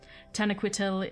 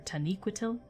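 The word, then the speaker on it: Taniquetil: land so it's the land of the valar tenecoitil is uh or taniquitil i always say it wrong taniqatu taniquitil is the snow white peak and that is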